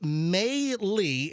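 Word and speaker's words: Meili: It's pronounced May-Lee.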